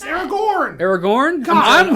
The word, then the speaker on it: Aragorn: It's Aragon.